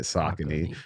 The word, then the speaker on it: Saucony: So at one point they put the phonetic spelling on the box and was like, this is how you say it, Saucony.